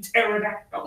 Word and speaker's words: pterodactyl: Or just Terra, because the P is silent in pterodactyl.